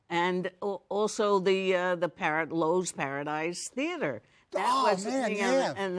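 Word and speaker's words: Loew's: place at the Lo's what we call the loise but now I know it's the Lowe's it was loise I mean what's wrong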